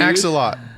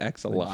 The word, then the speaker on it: axolotl: axolot. That's what I'd want to be. Axolotl? Axolotl. Yeah, that thing. Yeah. Yeah, say it right, dude. Axolotl.